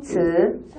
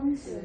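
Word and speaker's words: 词: 다음께 그래서 새로 나온 단어 다음께 츠. 츠. 그렇죠? 츠. 자, 단어예요. 단어는 사라고 불려지고 이렇게 발음합니다.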